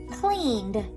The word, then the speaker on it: cleaned: care of it cleaned put your hand on your throat and just say clean oh i notice that my throat vibrates when i make the um sound at the end that must mean that cleaned is going to end in the d sound cleaned that makes sense so